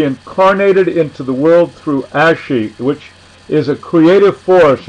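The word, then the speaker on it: ashe: all now there is the ashy a-s-h-e with an accent on the E and as she is said to be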